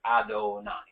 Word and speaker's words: Adonai: Well, when we say the Yud and Hey and Vav and Hey, we don't say it the way it's spelled. Right. We say Adonai.